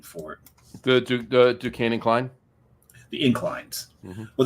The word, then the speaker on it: Duquesne: I think we went up the Quesney one. Duquesne. And it's spelled, if you take the Q and change it to an F, it's Dufresne, like Andy Dufresne from.